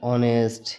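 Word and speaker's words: honest: आई ओ यू से पहले अगर एच आता है तो वहां पे एच का प्रोनंसिएशन नहीं होगा जैसे देखो एच ओ एन ई एस टी ऑनेस्ट यानी ओ भवेल है ओ से पहले यहां पे क्या आ गया एच आ गया इसका प्रोनंसिएशन नहीं हो पा रहा है फिर यहां पे देखना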